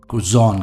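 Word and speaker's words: croissant: जैम हो सकता है उसे कजोन कहते हैं मैं जानता हूं इसकी स्पेलिंग कुछ अलग है प्रोनंसिएशन कुछ अलग है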